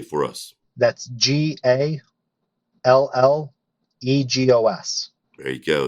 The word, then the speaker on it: Gallegos: name for us that's g-a l-l-e-g-o-s there you go it is pronounced Gallegos that's it I'll learn that today yeah there's no Y in there but it's no problem